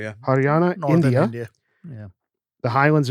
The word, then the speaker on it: Haryana: Is that Yeah, how you pronounce it? Haryana. Yeah. Haryana, Northern India, Yeah.